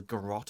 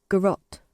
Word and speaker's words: garrote: Garrote. There you go. Garrote. That's how I said it. I swear that's how I said it. It does rhyme with carrot.